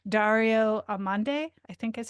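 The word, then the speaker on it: Dario Amodei: oh, so I was listening to the Ezra Klein show last week, and he was interviewing, I'm going to butcher his name, Dario Amande, I think is how you say it.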